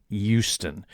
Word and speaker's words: Houston: he informs me that the Texas locals pronounce it Houston. That's that the H is silent.